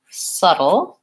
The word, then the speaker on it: subtle: and subtle and so settled versus subtle the only difference here again is the vowel here I have the Red Tent vowel and here I have the such fun vowel and so I might